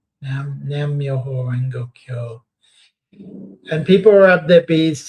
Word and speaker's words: Nam Myoho Renge Kyo: How do you pronounce this? Nam Yoho Renga Kyo. Nam Myoho Renge Kyo.